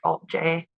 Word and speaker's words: Alt-J: so that they chose to write it and pronounce it like Alt J but uh they still